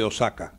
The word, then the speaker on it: Osaka: Alguna vez estuve por allí y aprendí de un japonés a pronunciar el nombre de la ciudad, que está acentuada como una palabra esdrújula en castellano.